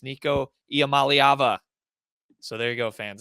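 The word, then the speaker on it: Nico Iamaleava: do know how to say his name it's Nico yam malava so there you go fans if you if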